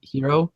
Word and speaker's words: gyro: hero wraps right cuz it's actually how you pronounce the G yr oh it's like hero giro the not your girl gyro yeah but I did